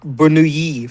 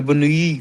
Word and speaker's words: Bernoulli: whenever you have like a Swiss pronunciation of 2 L's, it's always yi, like Bernoulli for the Bernoulli family.